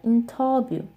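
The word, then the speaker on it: 인터뷰: Okay, this one is interview, and it is pronounced like interview. The V sound also doesn't exist in Korean.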